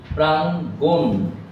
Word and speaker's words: প্রাঙ্গণ: যখন ভেঙে দেখো প্রাং, বলছি না প্রাঙ্গ, প্রাং, তাহলে অধ্বনি নেই। এরপর কি গণ যেটা, সেটা উচ্চারণের সময় একটু ও ধ্বনি এসেছে, প্রাঙ্গণ। এই হলো পার্থক্য।